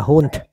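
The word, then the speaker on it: Hund: Nó phát âm giống giống con chó ha. Nhưng mà nó hun. Con chó là hunt.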